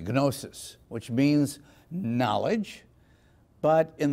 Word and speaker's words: gnosis: It comes from the Greek term gnosis. There you can use the hard G, gnosis, which means knowledge.